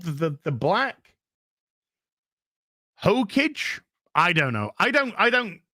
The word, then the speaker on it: Hokage: Hokage, somebody says. It's the The Black Hokage. That's how you pronounce it.